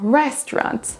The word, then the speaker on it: restaurant: C'est la même chose pour restaurant. Restaurant. La première syllabe là sera prononcée plus forte que les autres.